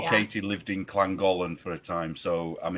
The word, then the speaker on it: Llangollen: Llangollen. See, that's So just double not L. how words are supposed to be. Double L is pronounced like cl. So But it's Llangollen.